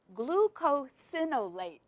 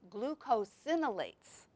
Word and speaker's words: glucosinolates: And it's called glucosinolates. Glucosinolates, okay?